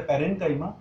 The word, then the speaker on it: parenchyma: : commands clear integral your pronunciation should be very correct it is a parenchyma it is all in